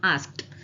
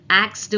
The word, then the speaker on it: asked: ஆனா அதை ஒரே வேர்ட்ல சிலபிஃபை பண்ணாம எப்படி சொல்லணும்னா ஆஸ்க்ட், ஆஸ்க்ட். ஓகே, ஆக்ஸ்டு வரக்கூடாது, இல்ல ஆஸ்க்டுன்னு வரக்கூடாது. ஆஸ்க் இடி தனித்தனியாவும் சொல்லக்கூடாது, இதை ஒன்னா சேர்த்து ஆஸ்க்ட்.